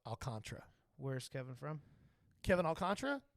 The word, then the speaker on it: Alcantara: it well you didn't misspell it but it's pronounced alcantra it looks like Alcantara like Sandy Alcantara yes but he actually pron it's actually pronounced alcantra where's Kevin from Kevin alcantra Dominican Republic I